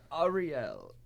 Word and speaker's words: Ariel: again oh my name was uh Ariel Ariel you have to say it like that see how do write